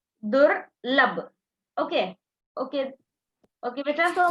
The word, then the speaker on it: दुर्लभ: बच्चों इसका ऊपर में कुछ चिन्ह है ना, वो इर है. So first pronounce the ir. दुर्लभ.